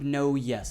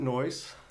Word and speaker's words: Noyes: name is uh no yes is that correct uh no i pronounce it noise it's spelt no yes yes so it's